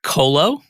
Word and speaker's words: Qolo: sure i pronounce it correctly it's colo yes okay so tell